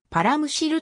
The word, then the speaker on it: 幌筵: 例は数多くあり幌筵と読む例もあるが一般的にはパラムシルと読むことが普通である先史時代から千島